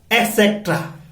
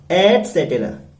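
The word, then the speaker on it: et cetera: क्या प्रोनाउंसिएशन करते हैं इसका? एक्सेट्रा। 100% रॉन्ग। इसका प्रोनाउंसिएशन है एटसेटेरा और इसकी स्पेलिंग है ET एटसेटेरा, CETERA।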